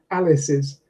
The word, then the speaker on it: Alice's: For example, Alice's. If you think of the Alice, and Alice's has 3 syllables, Alice only has 2.